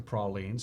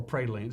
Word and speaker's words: praline: They pronounce it praline. In many other parts of the country, including in the Northeast and Texas, they call it praline.